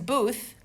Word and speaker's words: booth: So pronouncing booth is a blown TH.